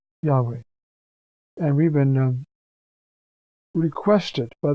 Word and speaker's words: Yahweh: It's spelled YHWH. And when it is pronounced, and the Jews do not pronounce it, Yahweh.